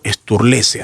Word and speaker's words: Sturlese: Estoy dialogando esta tarde con Patricio Sturlese.